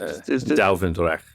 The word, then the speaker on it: Duivendrecht: Dwevendrecht, is that pronounced? Duivendrecht, yeah.